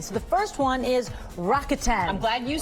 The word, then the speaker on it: Rakuten: So the first one is Rakuten.